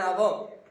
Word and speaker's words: hour: an hour, ఏ ఉంది sound, but here an hour, h silent అమ్మా.